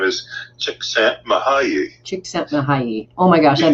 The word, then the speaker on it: Csikszentmihalyi: And the way it is pronounced is Mihaly Csikszentmihalyi.